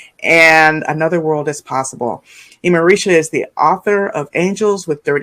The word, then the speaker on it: Imarisha: Am I pronouncing Imarisha correctly?